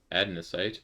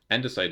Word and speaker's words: andesite: Adnesite. Oh, hold on. We can get some adnocite dust. Adnesite is a an endicite. I was saying it wrong. Andesite is a vanilla uh